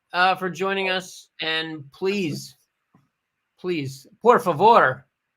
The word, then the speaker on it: por favor: And please, por favor. You don't roll your R's at all? Por favor. Por favor. Por favor. Por favor.